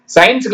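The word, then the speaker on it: science: பார்க்காம எழுது இங்க பாருங்க சி வந்து சைலென்ட்ங்க சி சொல்லக்கூடாது எஸ் ஐ இன் சி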